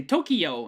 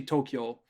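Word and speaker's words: 東京: word uh the the capital of japan people mispronounce it they say tokyo and when it's actually tokyo really quickly for those of you who are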